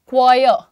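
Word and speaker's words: choir: Next देखते हैं, अच्छा आप लोग ये क्वायर, क्वायर, आर ना लगाइए यहाँ पर, क्वायर, ठीक है।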